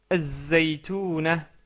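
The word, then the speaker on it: الزيتونة: Az-zaytouna, az-zaytouna, car la lettre zay est une lettre solaire.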